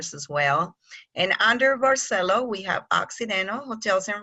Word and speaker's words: Barceló: from Palma de Majorca so you can pronounce Marcello barceló the please don't say bar cello because we're not from Italy so I just make